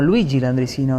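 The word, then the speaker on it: Luigi Landriscina: Una vida que nos lleva a pronunciar tu nombre, Luis Landricina, como Luigi Landricina, ¿no? Así figura. Mi nombre original es Luigi, que en argentino o en español o castellano, como lo quieras llamar, es Luis.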